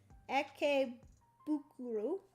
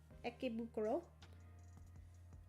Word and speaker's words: Ikebukuro: It says on the card how to pronounce it. Ikebukuro. Ikebukuro.